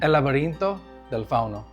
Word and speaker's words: El Laberinto del Fauno: How's the proper pronunciation? The El- Spanish version? El Laberinto del Fauno.